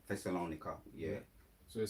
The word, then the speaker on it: Thessalonica: It's going to go on to to explain or Thessalonica. That's the word. That's how you say it. Thessalonica.